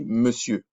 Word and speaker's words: monsieur: Vous allez voir, ça s'écrit monsieur, mais ça se dit monsieur.